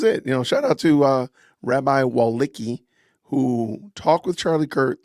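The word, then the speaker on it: Wolicki: His name is, I don't know how to pronounce this. P-E-S-A-C-H W-O-L-I-C-K-I, Walicki.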